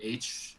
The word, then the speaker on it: Aitch: His name is H. It's spelled like AITCH.